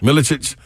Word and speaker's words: Milicic: Milicic.